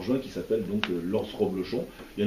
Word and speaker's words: Roblochon: Alors attention, il faut bien dire Roblochon, parce que le fromage, ça s'écrit le Reblochon avec un. Mais alors c'est Roblochon R-O.